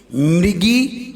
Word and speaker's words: मृगी: original word है इसलिए मृगी मृगेंद्र देखिए मृ एम आर ई मृगी एम आर A spelling बदल जाएगी म्रेम बदल जाएगी इसलिए सही पढ़िए सही